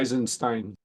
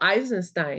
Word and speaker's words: Eisenstein: to read Charles I don't know how to pronounce his name esin someone help me with that is sacred economics not sure I enenstein oh eisenstein excuse me okay thank you very much eisenstein